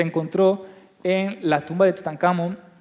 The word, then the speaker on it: Tutankamón: Si separamos el nombre de Tutankamón, sería Tut-Ankh-Amón. Exacto. O sea que en realidad lo deberíamos de pronunciar como Tutankamón. Tutankamón, sí. Que no hay nada más español que eso, ¿no?